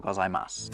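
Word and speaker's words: ございます: the first time, arigato gozaimasu, other than my apparent Spanish accent? I didn't pronounce that U that you can see Yes. at the end. And that's because you don't.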